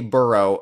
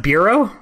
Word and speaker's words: borough: Is it pronounced bureau? No, I don't know. No, it's not bureau.